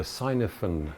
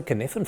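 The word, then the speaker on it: Cynefin: Talking about AI, you mentioned the sinaphen framework. What does that actually mean? Um, it's pronounced the kfan framework.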